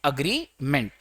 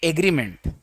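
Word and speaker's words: agreement: एग्रीमेंट, जबकि ये wrong pronunciation है, एग्रीमेंट नहीं होता है, अग्रीमेंट होता है।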